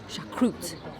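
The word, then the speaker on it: choucroute: Scott got pork knuckle with sauerkraut, but sauerkraut here is pronounced chacroute. Chacroute, it's the French pronunciation.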